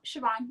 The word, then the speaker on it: Chivon: Well, firstly, can you correct me if I was wrong on the pronunciation of your name? No, Siobhan, you're right.